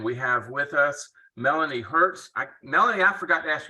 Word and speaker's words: Hertz: And we have with us Melanie Hertz. Melanie, I forgot to ask you, do you pronounce it the same way, the car company?